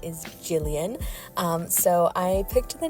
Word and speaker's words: Gillian: based name and uh I spell it g i l l i a n um because it has Gil in it um but obviously her name is Jillian um I also call